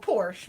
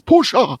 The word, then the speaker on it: Porsche: Hey, oh, Porsche. My fault. It's Porsche. It's Porsche.